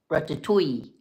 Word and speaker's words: ratatouille: ratatouille, but it's called ratatouille. Ratatouille. So there's a lot of, you know, you look at it and it has the L's there, and you wonder, why can't I pronounce the L?